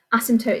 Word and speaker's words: asymptote: Asymptote is spelt quite strangely, asymptote. So it's got a silent P in the middle there.